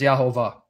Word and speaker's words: Jehovah: I'm going to either block Marshall or bounce Marshall, which is the same thing, because I just explained that the pronunciation is Yahovah.